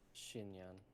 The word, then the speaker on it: Xinyan: I'm probably pronouncing her name wrong. Is it Xinyan or Xinyan? Shinyan.